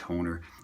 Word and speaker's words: Hohner: I know how to pronounce it. It's Hohner. I just think it's funny. It's got a silent H in the middle, so I always say Hohner because I'm weird that way.